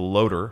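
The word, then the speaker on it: LOTR: ever heard and used the pronunciation of a loader for lots i was the nerd who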